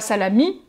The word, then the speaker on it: Salami: Salami, le salami. Hein. Mais tu as vu, la prononciation, c'est pas salami, mais salami.